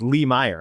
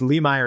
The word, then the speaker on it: Lemire: I didn't want to say the way people usually mispronounce it, which is Lee Meyer. I wanted to get you through it. So, it's Lee Meer is the alternative.